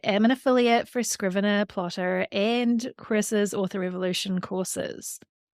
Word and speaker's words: Plottr: Now, if you are any type of plotter, I also recommend you check out the plotting software Plotter. I know, sounds a bit funny, but it's spelled Plottr.